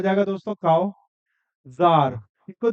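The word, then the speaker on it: czar: हो जाएगा दोस्तों काव जार इसको द इसको दोस्तों सी जो है वो क्या है साइलेंट है तो इसको हम जार बोलते है ये एक रशियन वर्ड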